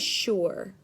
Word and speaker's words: sure: how about this word this word is sure it definitely doesn't look how it sounds but it's an important word to know it sounds like it has that Shh sound at the beginning but it's only spelled with an S and then this next